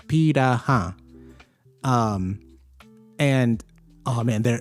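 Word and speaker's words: Pirahã: It looks it's spel it's literally spelled like piranha, but it's pira.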